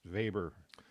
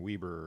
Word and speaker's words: Weber: That's why it's pronounced Weber rather than Weber or Weber or something like Mm-hmm. that. Mm-hmm. He's a German, so you pronounce it.